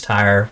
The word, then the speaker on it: Tyre: of understand who is Tyre, where do they come from, right? And I guess that's how you say it in the South. Tyre. Yeah. Mm-hmm. It's like the black stuff the dinosaurs died in.